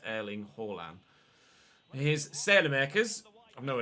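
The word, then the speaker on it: Erling Haaland: pronouncing horland's name right i've been reliably informed by a norwegian in twitch chat tron thank you mate that's you do pronounce the h but i am pronouncing it correctly other than that so it is erling hallam here's sail americas i've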